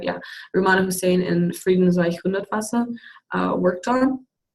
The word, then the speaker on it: Rummana Hussain: to see done, just like what's her name, Rummana Hussain? Am I saying it right? Yeah, Rummana Hussain and Friedensreich Hundertwasser worked on to convey ideas